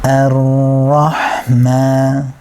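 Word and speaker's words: الرحمة: Ra, Ra, Ra, and trying to relax your lips as well as you go into this.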